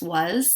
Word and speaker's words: was: spelling words was notice was has the schwa sound it's spelled with an A but sounds like short U and the Asus pronounced